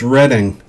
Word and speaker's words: Reading: The city was crucial in the Revolutionary War, and although it's pronounced Reading, it is spelled like Reading, and when you read it a lot, you gain vast wisdom.